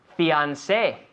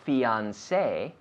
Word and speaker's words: fiancé: Fiancé. Fiancé. This is a word that we steal from French.